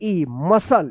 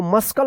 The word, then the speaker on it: muscle: MUSCLE मसल, इसको मस्कल मत पढ़िएगा, क्या पढ़ेंगे मसल पढ़ेंगे।